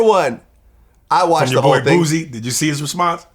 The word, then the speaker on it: Boosie: his name wrong booy booy I say booy booy like booze okay booy booy booy with an S not a z all right right well